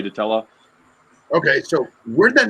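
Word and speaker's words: dtella: yeah i think you i think you pronounce the d it's not i think it's like it's not like a silent d i think it's the teller i don't know i'm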